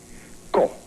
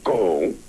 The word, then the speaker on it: ko: Ko, not go.